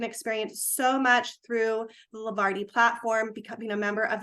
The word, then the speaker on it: Levarti: I mean, after all, Levarti rhymes with party.